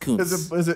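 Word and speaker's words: Kuntz: It's actually pronounced Cunts.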